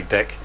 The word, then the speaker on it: DEC: no no that's wrong you're supposed to say deck tommy but um yeah that's that's the way a lot of people pronounce it but um i i'm